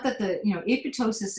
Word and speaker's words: apoptosis: the term apotosis uh it's actually pronounced apotosis it's Greek um but you will hear people say apoptosis I cringe when I